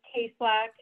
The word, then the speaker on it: Tayslack: my last name is tayslack um simpler than it looks but people definitely do struggle with it so i always just say long a two syllables awesome um so i